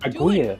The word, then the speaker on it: Aguirre: Liam says he's planning to show Agiri. Is that how you pronounce it? Agiri? The Werner Herzog movie we're doing. Aguirre. Right there. Aguirre, Don't yeah.